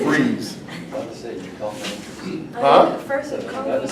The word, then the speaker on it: Fries: It is not pronounced fries, it's freeze.